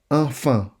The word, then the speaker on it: enfant: Notice that the T is silent. Enfant instead of enfant. Okay? Enfant. Notice that EN and AN have the same pronunciation.